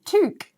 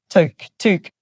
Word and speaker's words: toque: It sounds like a tuk-tuk. Every time they say it, I think of a tuk-tuk. Toque.